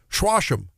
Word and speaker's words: Joachim: he said they would call it, those old French fur traders, probably chewing on tobacco, whatever, Schwasham. He called it Schwasham. So that's how we mispronounce things.